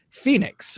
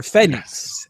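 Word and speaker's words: Fénix: the crazy high flyer Phoenix or Phenix as it's pronounced taking on this really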